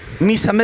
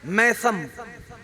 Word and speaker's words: मीसम: है हजरत मीसम अच्छा एक प्रोनंसिएशन होता है हमारा प्रोनाउंस होता है लाइक मैसम मीम के साथ जबर के साथ ये गलत प्रोनंसिएशन है ल सही प्रोनंसिएशन क्या है मीसम ठीक है ना क्या